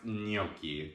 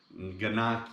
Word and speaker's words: gnocchi: justin and today we're going to be making gnocchi which is an italian pasta made from potatoes and flour and egg it's very simple very delicious just keep in mind that it's pronounced gnocchi the g in in italian is pronounced and